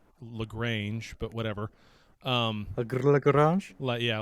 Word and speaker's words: Lagrange: uh eve echoes and infinite lagrange which is pronounced lagrange but whatever um yeah like like like the